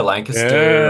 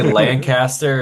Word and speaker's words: Lancaster: Used to say Lancaster and then uh my cousin moved out there. He's like, "No, you can't say that. It's Lancaster."